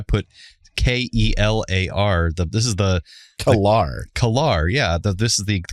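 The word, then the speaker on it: K'Ehleyr: He commented on our last episode with the Star Trek episode, The Emissary, and he said on Facebook, it's pronounced K-Lar, not Klar.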